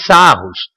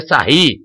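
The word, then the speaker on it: Sarrus: de terceira ordem é regra de sarros né pronúncia correta seria sair a gente vai pegar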